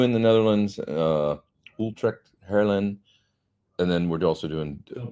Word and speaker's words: Haarlem: HAARLEM. Yeah, like Van Halen.